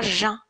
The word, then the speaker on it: jeun: واخا هي كتكتب jeune ولكن كتقرا jeun. D'accord. C'est la prononciation correcte.